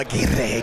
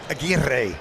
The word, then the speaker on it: Aguirre: And that tackle made by Raul Aguirre Jr. I love the way the pronunciation got. Aguirre. They tell you got to roll the R. Aguirre. Yeah, Aguirre.